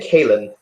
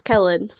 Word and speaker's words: Kellen: Am I pronouncing your name Kaylin? Actually, it's Kellen.